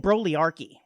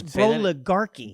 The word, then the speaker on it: broligarchy: I inadvertently mispronounced broligarchy. Oh, what is it? I kept saying brolyarchy and it's boligarchy.